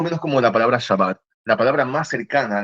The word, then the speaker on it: Shabbat: Porque de hecho los en una parte de los judíos, en la parte de Francia y España se le al Shabbat como no podía pronunciarlo igual que en el norte de Israel no podía pronunciar bien a Shin era sin sabat.